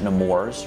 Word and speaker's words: Nemours: a pediatric nephrologist at nemours rhymes with s'mores ai dupont hospital for